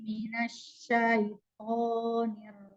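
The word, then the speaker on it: مِنَ الشَّيْطَانِ: Jadi diusahakan untuk dibuka ya. Jadi minasyaiton. Nah, tidak lebih mengecil ketika to-nya.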